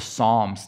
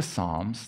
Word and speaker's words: Psalms: to talk about the Psalms today we've been going through our journey we're gonna talk about this idea of the of the Psalms not the Psalms the p is silent you want to talk